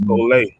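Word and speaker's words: σχολή: Right, and that Greek word is pronounced skole.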